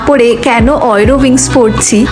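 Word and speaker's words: Eurowings: আচ্ছা, তোমরা না অনেকে আবার ভাবতে পারো আমি এটাকে ইউরোউইংস না পড়ে কেন অয়রোউইংস পড়ছি। আসলে জার্মান ভাষায় কিন্তু ইউ কে অয় উচ্চারণ হয়।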